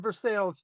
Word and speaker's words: Versailles: You're in Versailles. Because that's how we pronounce it. Very, right?